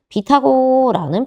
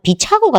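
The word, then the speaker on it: 빛하고: 근데 이 친구는 지금 봤더니 음끝이 먼저 일어나고 나서야 지금 봤더니 비타고라는 표준 발음이 되더라는 겁니다.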